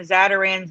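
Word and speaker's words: Zatarain's: playing i mean the zadaran's logo and marketing and just just to be clear is that we say zadarans but but it's it's it's spelled zata z-a-t-a-r-a-i-n-n i-n-apostrophe-s well maybe it's mandela had covered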